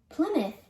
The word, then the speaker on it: Plymouth: tremont you should say treemon how do you pronounce this town known as america's hometown plymouth is an early colony founded by the mayflower